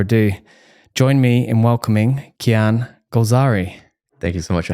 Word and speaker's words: Kian Golzari: So without any further ado, join me in welcoming Kian Golzari.